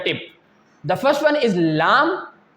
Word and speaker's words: ل: Lam, Lam, Noon, Ra. You can feel that when the tip of your tongue touches the upper gums, then these 3 letters will pronounce correctly.